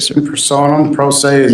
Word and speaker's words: pro se: Pro se persona, pro se is how you say it.